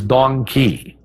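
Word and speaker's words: dong quai: I can't forget its female counterpart which is Don Kei that's spelled D o n g quu Ai and doni is a great herb for any female of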